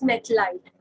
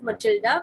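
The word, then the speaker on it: Mathilde: The first one is Methlite. In some of the books, you must have seen the spelling written as Matilda, and some of the people pronounce it as Matilda, whereas some pronounce it as Methlite.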